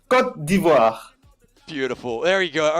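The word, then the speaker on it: Côte d'Ivoire: beautiful correct pronunciation the the good pronunciation is cut diva beautiful there you go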